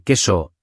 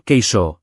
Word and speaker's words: queso: Y pronunciación: queso se dice queso, no queso, por favor, que eso suena raro.